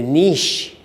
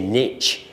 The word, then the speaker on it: niche: But you just need to make sure that the niche, Americans say niche, Europeans say niche.